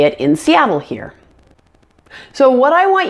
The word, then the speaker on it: Seattle: like she but see now the word Seattle has 3 syllables and the middle syllable that ah is the primary stress syllable so it sounds like this Seattle Seattle make sure the a sound is much louder and longer than the other two syllables around it now the most difficult